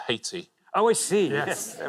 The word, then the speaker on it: Haiti: IT, that's a country I haven't heard of. Right, and now you're retired. We pronounce it Haiti.